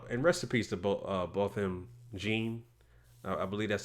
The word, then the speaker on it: Botham Jean: I mean, and I'm not surprised by this because the guy, and rest in peace to Botham Jean, I believe that's how you pronounce his name, Botham Jean.